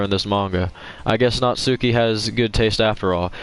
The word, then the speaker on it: Natsuki: For disrespecting Natsuki?